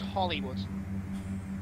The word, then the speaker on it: Holywood: Matt, it's pronounced Hollywood. I think it is, anyway. It's spelled Holywood.